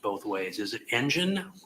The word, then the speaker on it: Engen: Is it Engen, like an engine, or is it Engen? I thought I heard her say Engen. It's the latter.